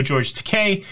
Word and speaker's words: George Takei: but I do know George Takei. Rhymes with toupee.